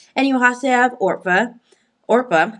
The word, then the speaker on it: Orpah: Orpah, I think that's how you pronounce it. I think that's good. Boaz. I literally had to listen to it to make sure I got the pronunciation right. Orpah, and You did.